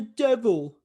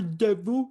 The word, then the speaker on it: de Vil: It's called the Devil." And I'm like, "No, no, no, no, please no. I'm over here. Just I know what's gonna happen." Then Jasper says, "Oi, it's not a devil. It's pronounced Devil."